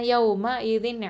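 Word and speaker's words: يومئذ: இது எப்படி சொல்லணும், சும்மல துஸ்அலுன்ன யௌம இதின் அனின் நஈம். அல்ஹம்துலில்லாஹ் சிஸ்டர்ஸ். அதே மாதிரி யௌம இதின் அப்படின்னு சொல்லும்போது நிறைய பேர் ஹம்சாவை ஐனா மாற்றி கூட உச்சரிக்கிறாங்க.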